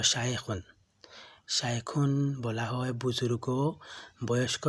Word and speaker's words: শেখ: এটির মূল উচ্চারণ হলো শায়েখুন।